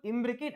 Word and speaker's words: imbricate: trick is very simple imbricate Advocate imbricate imbricate rhymes with Advocate okay so Advocate Advocate